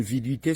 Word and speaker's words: viduité: le délai de viduité pour les plus jeunes viduité s'écrit V I d u i t accent aigu